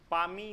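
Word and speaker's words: Palmae: सारा हो जाएगा गा तीसरा पामी इसको पढ़ते हैं एल साइलेंट है पामी पामी में लिख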